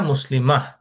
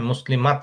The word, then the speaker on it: مسلمة: হিয়া মুসলিমাহ, হিয়া دي আহ মুসলিমা, বলে শেষ করতে হবে কিন্তু, হ্যাঁ, মুসলিমাত না কিন্তু, ও হিয়া মুসলিমা, মুসলিমাহ। مسلمة. মুসলিমা, ওকে, হায়ের মতো একটা উচ্চারণ হবে, হিয়া মুসলিমাহ।